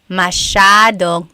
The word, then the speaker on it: masyadong: Elijah said, how do you pronounce masyadong? Masyadong means a lot. So the S-Y-A is a sha sound.